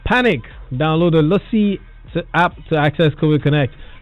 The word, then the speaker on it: Luscii: Lucy is spelled Luscii.